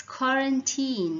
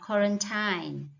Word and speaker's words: quarantine: hear these days right it's quarantine not quarantine quarantine not quarantine then so you when you